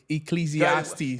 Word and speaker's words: Ecclesiastes: Um, I'm reading I don't know how to pronounce it. Is the one with the ecclesiastes.